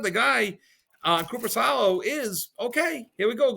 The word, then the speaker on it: Korpisalo: Korpisalo.